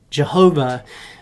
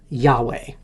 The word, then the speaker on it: Yahweh: And so Jehovah is a pronunciation that was made up during the Renaissance. But scholars think that really the original way to say this is Yahweh.